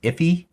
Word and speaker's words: IIFE: Sometimes I think it's pronounced iffy.